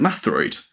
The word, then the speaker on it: Metroid: And that's when it gets quite complicated because it is it is spelled Metroid. But as you say, when they say it out loud, they say it Mathroid.